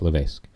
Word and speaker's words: Levesque: Now, some people pronounce it Levesque, and I don't know why, but it's got an S in it. It's Levesque. He's there now as the